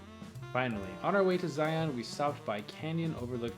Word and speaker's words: Zion: yum fun fact apparently locals pronounce what looks like zion as zion like lion we visited the local